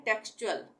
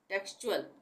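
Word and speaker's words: textual: ठीक है, उसी तरह से यह है टेक्सचुअल, टेक्सचुअल, यहाँ पे टी के बाद UAL आ रहा है तो यहाँ पे चुअल होगा टेक्सचुअल। एक्चुअल, ACTUAL, टी के बाद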